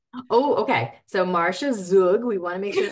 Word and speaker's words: Zug: Oh, it depends if you talk to my husband's family. Oh. They would say it's Zug. Oh, okay. So Marcia Zug, we want to make